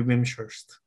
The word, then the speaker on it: Wimshurst: the veeam shirts okay i don't know how to pronounce the name right i believe it is an english name so it's either wing shirts or ventures if it's english it should be vimshurst um so let me